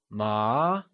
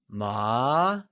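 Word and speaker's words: 麻: of fabric translates to ma and is pronounced using a mid rising tone also called the second tone let's try and say ma once again it is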